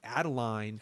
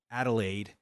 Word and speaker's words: Adelaide: of how does the original girl turn into Adeline Adelaide. and Adelaide, sorry, Yorgos. Now all I can think about is all those names that we've been mispronouncing for years, Donal and all that other stuff. Anyway, Adelaide, got it.